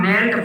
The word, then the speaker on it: knelt: क्योंकि दोस्तों हम ये जो KNELT जो शब्द दिया गया है या वर्ड दिया है इसको हम नेल्ट पढ़ते।